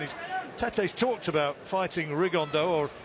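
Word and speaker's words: Rigondeaux: And he's Tete's talked about fighting Rigondo or as he's correctly pronounced with the uh Spanish accent, Rigonda.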